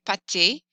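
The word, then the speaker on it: pâté: it's plural whereas patty with an e accent pate is spreadable meat not the same as pastas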